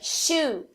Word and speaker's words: shoe: Então, em inglês, a palavra shoe significa sapato, mas a palavra chew significa mastigar.